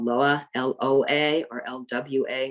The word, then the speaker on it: Loa: In Haiti, the deities or entities there are called Loa, L-O-A, or L-W-A. It's pronounced the same way, Loa.